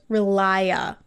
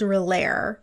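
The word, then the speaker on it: R'lyeh: Dania thinks that the creature came from somewhere underground in a lost land called Relaya, but it's spelled Relaire in the subtitles. Yeah, it's supposed to be like Relaya, like Cthulhu Relaya.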